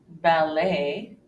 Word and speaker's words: ballet: are several more exceptions another one occurs and words that come from the French language where we actually hear the long a sound for example Buffet ballet bouquet croquet Ricochet beret